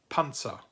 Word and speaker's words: Panzer: plosive, like a Z, like a TS sound if you put T and S together and you add a little puff of air, so it's a plosive sound.